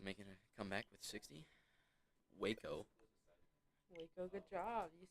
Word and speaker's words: Waco: WACO.